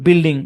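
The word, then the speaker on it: building: তারপর আরো কিছু শব্দে ইউ সাইলেন্ট থাকে, যেমন বিস্কিট, বিল, বিল্ডিং, মনে রাখতে হবে জাস্ট।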